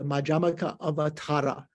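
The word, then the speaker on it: Madhyamakāvatāra: this text, this treatise, is the Madhyamaka Avatara. Madhyamaka Avatara. So there's a long A there.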